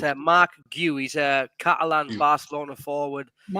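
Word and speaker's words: Marc Guiu: get his pronunciation so everyone knows how to pronounce his name. It's Mark Gu. Gui or something. Yeah. So, people have been saying Gui Gui, but it's a Mark Gu.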